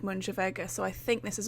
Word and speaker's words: Mooinjer Veggey: And I say that because it's sort of written like Arcan Sonny, but Moonship Veggey was written as like Mooinjer Veggey, but I think it's pronounced like Moonship Veggey, so I think this is also pronounced as Arcan Sonna.